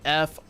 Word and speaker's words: Fresnel: It is spelled Fresnel.